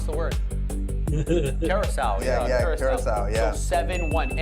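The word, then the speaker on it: Curaçao: How do you pronounce the word? Curacao.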